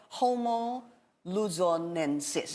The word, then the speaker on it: Homo luzonensis: you let's talk about it now it's called homo luzonensis yes I pronounced it correctly so what what it really